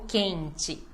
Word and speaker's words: quente: quer cachorro quente ó o quente na penúltima agora se é mais